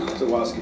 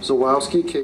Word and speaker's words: Zalewski: How do I pronounce the last name? Zawoski, Judge. Zawoski.